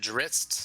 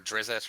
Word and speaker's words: Drizzt: Oh, I Is it Dritzt or Drizzet or however you pronounce it? I don't think there's an I in between.